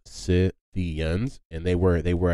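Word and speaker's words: Scythians: it's it's the word is s-c-y-t-h-i-a-n-s but it's pronounced si theons and they were they were a nomadic tribe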